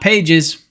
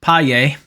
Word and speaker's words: Pages: It's not Pages, Paye, in center field. Just reads like Pages.